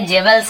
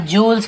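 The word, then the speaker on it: jewels: इसे ध्यान देंगे, जेवल्स नहीं पढ़ेंगे, इसे हम जूल्स पढ़ते हैं।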